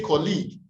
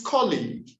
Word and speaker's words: colleague: resources professional number three we misplace the primary stress we say colleague it's colleague my colleague and i